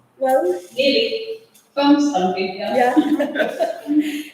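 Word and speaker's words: Hvammstangi: Greta lives in Wonstangi. Did I pronounce well? Really? Wonstangi, Yeah.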